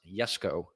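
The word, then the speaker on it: Jesko: it right koenigsegg yes go absolute yes it's pronounced yes go and yes go is christian's father's name that's why that's what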